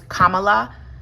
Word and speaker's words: Kamala: apologies her name is Kamala Harris vice president Kamala Harris it's not Kamala it's Kamala and I will